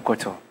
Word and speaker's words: Khortorh: As you know, Koto. But then my fan base is not Ben Kwayo in group. So Koto is spelled KHORTORH.